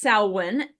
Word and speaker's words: Samhain: It's pronounced Swin.